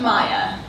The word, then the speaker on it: Maya: Well, anyway, it's not because of that, it's just, we're Swedish, and in the Swedish alphabet, the J is pronounced like a Y, so it's not Maja, it's not Maha, it's just Maya.